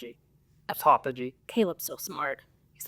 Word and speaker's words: autophagy: Do you know how to pronounce it? Autophagy.